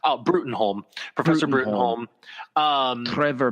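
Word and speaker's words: Bruttenholm: cannot remember his name cuz it's tough to pronounce Bruton home professor bring home forever Bruton home yes and so you can go to routes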